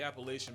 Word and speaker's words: Appalachia: are probably why the Appalachian Mountains have the reputation. bro. If you don't say Appalachia, I'm gonna throw an apple at you. Did he just mispronounce it?